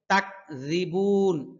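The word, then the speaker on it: تكذبون: তাকযিবুন রাল পাতলা হরফ। রি রি রি রি বলুন, আপনারাও বলুন রি। বুন হ্যাঁ একালিফ টান আছে, যেহেতু এখানে পেশ এসেছে ঠোঁট গোল করতে হবে।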